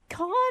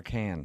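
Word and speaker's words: Cannes: Can I ask is it con or is it the can film festival?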